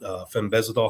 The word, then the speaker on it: fenbendazole: And he's talking about, ivermectin, and he's talking about fenbendazole.